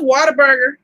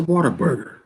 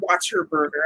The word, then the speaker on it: Whataburger: um that was a whataburger and you just said it wrong i didn't say watch your burger i said what a burger whataburger oh okay okay matter